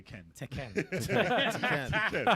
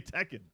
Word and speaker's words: Tekken: it's been like like tenen teen that's how you're supposed to pronounce it prounce correctly and she got roasted for that for years bro this is America we say Tekken it's Mer but they